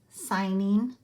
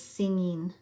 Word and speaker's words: signing: a picture of wreaths did you notice this signing some kids miss read that and think that it is singing but it is actually a ghost letter GN and the G is